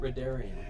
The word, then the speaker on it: Rheddrian: Rheddrian. Rheddrian. Would be Because if I use H- R-H-A oh, sorry. double D. I thought it was R. Rheddrian. It is. everyone likes it I when I use mispronounce it magic.